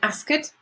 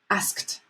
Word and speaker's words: asked: few of Spanish speakers or Spanish students say ask it it's not ask it asked asked reach reached work worked and again many